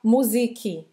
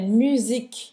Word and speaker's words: musique: desse errinho de pronúncia, é não falar musique, tá? É musique. Musique, mas ela falou certinho. Termina no k, certo?